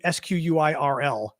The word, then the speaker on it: squirrel: Because I guess, well, we would pronounce it without the E. It'd be SQUIRL.